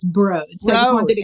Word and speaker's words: Broad: And it's actually broad institute. Broad. It's spelled broad, but it's broad.